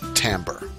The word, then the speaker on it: timbre: by their tone color please note that tone color and tamber mean the same thing and that tamber is pronounced tamber it is interesting that